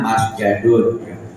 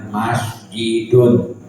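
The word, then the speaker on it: مَسْجِدٌ: Tempat sujud asalnya masjadun. Ini ada kelainan perubahan, jadi tidak masjadun, jadi bacanya masjidun. Masjidun.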